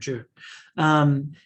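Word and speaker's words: Jie: That's how you pronounce his name, Zhe.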